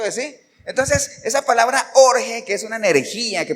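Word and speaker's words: ὀργή: griego que se escribe orge o sea como Jorge pero sin la J jge así Y esa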